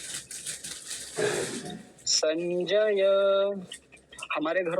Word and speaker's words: संजय: बोलते हैं संजय संजय यानी ज को आधा कर देते हैं संजय संजय नहीं संजय जय ज को पूरा रखना है फिर से समझिए ध्यान